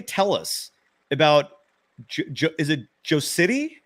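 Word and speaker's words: Jocytė: Can Sophia tell us about, is it Jocity? How do you pronounce that? I'm sorry. So it's Yochite. Yochite? Yes. Oh, people are going to have fun with that one. It's Lithuanian, so it's a little different.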